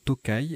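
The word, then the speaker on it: tokay: vin liquoreux de hongrie dans ce cas là il se prononce tokaï et il peut s'écrire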